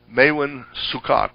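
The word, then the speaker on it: Maewyn Succat: Maewen Sukot would be a pronunciation. The Hebrew always puts the accent on the last syllable of a name.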